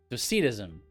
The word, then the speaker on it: Docetism: So Docetism is kind of they match, right? They match up in terms of emphasis.